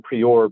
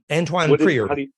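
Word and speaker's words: Antoine Priore: I call him Prior, but it's Antoine Prior. Antoine Prior, French.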